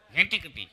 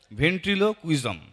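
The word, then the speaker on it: ventriloquism: মায়ারস্বর আর ইংরেজিতে বলে ভেন্টিকটি ভেন্টিকটি ভেন্টিকুটি না ভেন্ট্রিলো কুইজম ভেন্ট্রিলো কুইজম ভেন্টিকুটি ভালো করে উচ্চারণ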